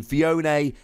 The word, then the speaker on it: Phione: and just so we're clear I've checked the pronunciation phione is definitely the correct pronunciation but I'm sure